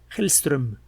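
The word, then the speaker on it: Hellström: tedm y elinor helstrom helstrom sería la pronunciación es una o con con diéresis acabar usted concordando con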